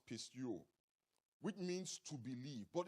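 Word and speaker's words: πιστεύω: In the Greek language, the word belief comes from a Greek word pronounced pisteuo, which means to believe.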